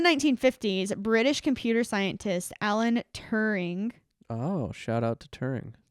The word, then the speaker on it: Turing: so in the 1950s british computer scientist alan turing oh shout out to turing thank you alan turin how do you say that in a british accent turing there it is suggested that periodic patterns in